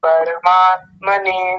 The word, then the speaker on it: परमात्मने: रा उच्चारण हां हां र को इन्होंने आधा कर दिया था। परमात्म ने बोल दिया था। जबकि पर नहीं है। परमात्मने और दूसरा बताइए।